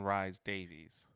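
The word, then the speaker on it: Rhys-Davies: Don Rise Davies. It's RH YS- Davies.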